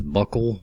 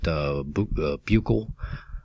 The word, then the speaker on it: buccal: the route of administration this is buckle or some people pronounce that buccal either one's fun simply means between the